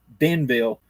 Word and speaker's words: Iberville: There's like 5 or 6 books, but Benville, it's I Benville and Iberville, but it's an I Benville. But as I understand, the I is silent. Benville, when LaSalle came in